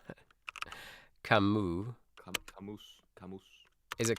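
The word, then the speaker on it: Camus: Oh, why can't I I can't spell it. Camu. Camoose. Camoose. Is it Kamoose? Is it? Yeah. Camu. Albert Camu.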